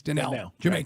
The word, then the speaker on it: Danielle: And it's spelled Daniel or Danielle, but it's Danielle. Jamaican roots.